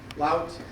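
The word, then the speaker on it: Louth: Lout, L-O-U-T-H.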